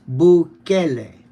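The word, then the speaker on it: Bukele: It's bule. The emphasis on the second syllable.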